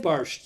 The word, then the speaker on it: borscht: Barsht. Barsht? Barsht. Spell that.